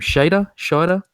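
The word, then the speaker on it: Scheider: How do you pronounce his last name? Shader.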